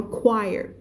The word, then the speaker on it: choir: ch ดักเซียนนะคำนี้นะคะ gray-haired haired ตัว D สิตัว R ใช่ gray hair ก็คือผมงอกผมสีขาวหมดหัวแล้วนะคะ voice church ออกเสียงให้ชัดนะตรงนี้นะเสียง ch นะคะ church แต่พอเป็นคำนี้ไม่อ่านชวายนะไม่อ่านชัวด้วยคำนี้อ่านว่า choir ch ตรงนี้เปลี่ยนเป็นเสียง k ฉันเขียนได้ไหมเนี่ย choir ก็คือพวกนักร้องอะที่เป็นกลุ่มนักร้องในโบสถ์หรือว่าพวกอะไรอย่างเงี้ยค่ะที่เขาเรียกว่า choir มันเป็นคำยืมนะมันก็เลยไม่ออกเสียง